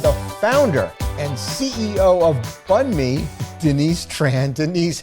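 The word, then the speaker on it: Bánh mì: 15 years ago, um people couldn't pronounce Bun Mee properly. And that was so frustrating to me. They would say "Ban Mee" cuz it's spelled b a n h and there's a silent h.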